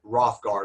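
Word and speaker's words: Hrothgar: h g- a r the first H is silent rothgar is how it's uh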